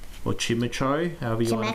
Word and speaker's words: Chimecho: All right, Chimecho or Chimecho, however you want to pronounce it. Chimecho, whatever. Blitzel. Yeah, it's Chime Echo.